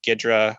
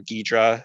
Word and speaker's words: Ghidra: say most popular are gidra or ghidra as it's probably pronounced as well as ida